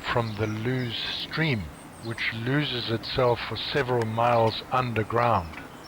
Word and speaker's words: Loose: I'm told that the actual pronunciation of loose is actually lose, as in booze, in search of which we stumble into the Checkers public house.